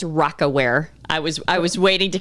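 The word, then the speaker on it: Rocawear: Adidas, and by the way, it's Rockaware. I was waiting to correct you. I didn't. When you said Rockerwear, it's Rockaware.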